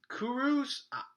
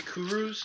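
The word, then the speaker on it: Kurucs: so he's actually important i kuros i'm gonna be honest it's kuru's it's pronounced um he played for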